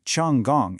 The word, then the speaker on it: Hong Kong: Xiang Gang, or pronounced Hong Kong in Cantonese, beautifully translates to fragrant harbor.